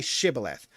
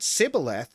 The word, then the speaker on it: shibboleth: they said all right say shibboleth if he said sybil because he could not pronounce the word correctly they seized him and